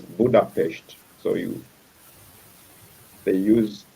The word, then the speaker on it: Budapest: in their language that they pronounce s as the hsh so we from the english point of sight we would say budapest but from them they will pronounce it as budapest so you they use